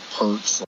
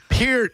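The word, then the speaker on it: Peart: You guys, but how do you not know how to say Neil Perz? Pier, idiot. It's Pier, you freaking [ __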